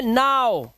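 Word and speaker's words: now: अब देखो यहाँ पर ओ डब्ल्यू का उच्चारण ओ होना चाहिए, लेकिन यहाँ ओ तो नहीं है, तो दिस इज नॉट, ये है नाउ। देख रहे हो उच्चारण क्या आ रहा है, इसका उच्चारण आ रहा है नाउ, नाउ।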